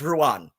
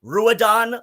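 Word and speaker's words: Ruadhan: a d h an I assure you if you speak Irish if you speak even as barely any Irish as I do you know that my name is pronounced Ruan how badly does Ethel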